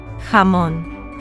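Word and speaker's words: jamón: The key is make it strong and throaty. Don't he soften it like English H.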